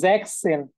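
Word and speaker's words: sechzehn: আচ্ছা, 16-এর উচ্চারণ একজন জিজ্ঞেস করছেন, জ্যাকসেন, জ্যাকসেন, জ্যাকসেন, জ্যাকসেন।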